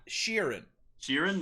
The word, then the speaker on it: Sheeran: name what is it sharon ed sheeran ed sharon no like sheeran so you're in like all right like yeah